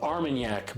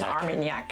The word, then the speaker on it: Armagnac: Their Florida straight bourbon, and then they put it into Armagnac barrels, right, from France.